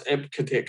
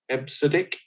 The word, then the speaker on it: EBCDIC: This one, I used to pronounce EBCDIC, but I'm told it's pronounced EBCDIC, or it was at the time.